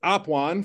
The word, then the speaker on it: Apuan: And so it's Apuan, for those of you that have heard us say the name wrong all year long on the Central YouTube channel.